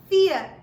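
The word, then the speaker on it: vier: V huh very good V in German is pronounced as F which is why for is pronounced as fear fear oh great that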